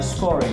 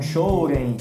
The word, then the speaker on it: Scorem: Duncan, o Duncan é da Scorem. Scorem, isso mesmo. Scorem. Isso mesmo. E há muitas pessoas aqui no Brasil também falam Shoren. Shoren, né? Independente da pronúncia.